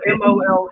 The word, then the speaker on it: mole: or nachos it's spell m o e yeah oh it's pronounced Mo yeah because the e is a sound right um yeah but that be separate like chicken mole or would that be